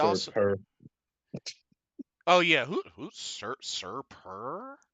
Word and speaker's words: Sir Purr: "Hey, how you say his name? Sir Purr. Oh, like purr."